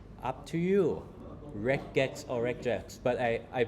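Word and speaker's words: regex: So, I like reex. Okay. So, you can say rejax if you want or reject in Thai, right?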